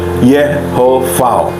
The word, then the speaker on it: Yahweh: Yahweh itu pelafalannya Yehovah.